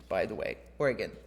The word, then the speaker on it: Oregon: heard Portland Maine nope other Portland and it's pronounced Portland Oregon by the way Oregon like gy anyway so at first Plymouth was